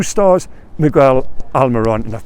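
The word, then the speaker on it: Miguel Almirón: 2 stars, Miguel Almiron, and I've pronounced that right. I know there's one user who pulls me up every time. Yeah, come on, we'll give it another go. Miguel Almiron.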